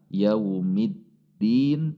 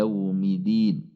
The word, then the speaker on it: يوم الدين: Kemudian yang sering terjadi pada huruf dal, tasydidnya menjadi hilang, yaumid din menjadi yaumidin, maliki yaumidin. Hati-hati, berarti tasydidnya hilang, menghilangkan huruf, membatalkan Al-Fatihah.